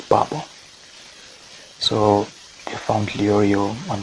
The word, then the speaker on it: Babon: a quick side note babon initially i was pronouncing it bob one because of how it spelled the english version